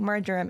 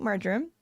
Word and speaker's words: marjoram: So I'm going to put in my 4 drops of sweet marjoram or marjoram, depending on colloquial how you say it. I say marjoram.